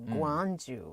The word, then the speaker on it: Gwangju: And it is spelled as GW, so Gwangju, almost like.